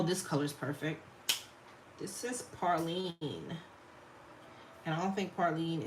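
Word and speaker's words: praline: Yeah, Parlene. I know I'm saying it right. This is how we say it down here.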